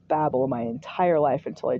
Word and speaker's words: Babel: The Tower of Babel. I think I heard it pronounced Babel my entire life until I joined the church, and now all of a sudden it's Babel.